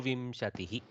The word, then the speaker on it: विंशतिः: You go correctly nasal for the bindu. Vinchatihi like that. Somehow my South Indian brain goes Vimshatihi like Makara.